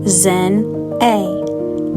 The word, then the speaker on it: Xinae: It's pronounced Zen A.